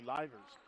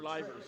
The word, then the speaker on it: Livers: which is uh Charlie Livers. Livers. Yep. Is that how you pronounce that? I think so. Is it Livers or Liers? livers. See, I had it right.